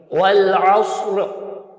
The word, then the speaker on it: والعصر: جائے گا۔ اردو تلفظ والعصر، اکثر لوگ والعصر پڑھ دیتے ہیں، عصر نہیں کہنا، عصر، والعصر ان الانسان۔ اورنج